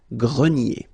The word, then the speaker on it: grenier: Remember this ER here at the end will give you the sound E, nier, grenier.